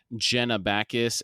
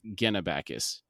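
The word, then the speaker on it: Genabackis: to bring up today I have been pronouncing the continent of Jenna Bacchus as gennabakis so I will correct that from here on out just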